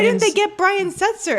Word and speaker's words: Setzer: Why didn't they Brian's- get Brian Setzer? And people are mispronouncing his name Seltzer.